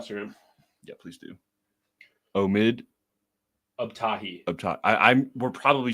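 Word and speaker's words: Abtahi: Um but yeah, um I believe it is Omid Abahi. I I'm I don't want to mispronounce his name, but I'm gonna pull it up on Instagram. Yeah, please do. Omid Uptahi.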